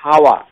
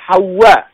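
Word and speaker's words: حواء: মিনহুমা আদম এবং হাওয়া আমাদের দেশে বলা হয় হাওয়া এই উচ্চারণ সঠিক নয় এটি হচ্ছে উর্দু ওয়ালাদের উচ্চারণ এটাকে আরবি ভাষায় বলা হয় হাওয়া যে তাদের উভয় থেকে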